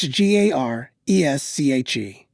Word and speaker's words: Garesche: The street is spelled Gareshave. Garesche. That's Garesche. So I'm calling Miss D in North City, who lives on this street, to help me out.